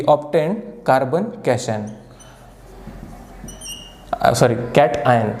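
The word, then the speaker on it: cation: लक्ष द्या, कार्बन we obtain कार्बन कॅशन, कॅटआयन. हे गुगलसुद्धा केलं नाही तर पोरं लगेच कमेंट करतात, सर कॅशन नाही, कॅटआयन असतं ना, असं तसं.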